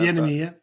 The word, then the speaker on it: Bieniemy: Is that how you pronounce his name? Sorry, I don't want to mess it up there. Bieniemy, yeah.